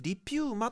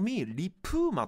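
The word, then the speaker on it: LiPuma: まし願いします日本ではねこれトミーリピューマと呼ばれていますがアメリカではとミリプーマと発音されるのが正本来の読み方ですねこの人が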